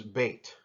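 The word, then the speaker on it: ב: The next letter in the Hebrew alphabet is Beit. This one can occur with a dagesh or without a dagesh. It sounds like the letter B if it has the dagesh, letter B as in boy.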